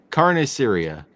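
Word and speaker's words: carne asada: Moose, say carne, and then like Syria. There you go. Now join them together. Carne Syria.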